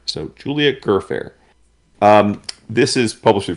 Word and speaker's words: Gfrörer: Uh I believe it's German, but um I did look it up and she says that she prefers her name to be pronounced Gerfair. So Julia Gerfair.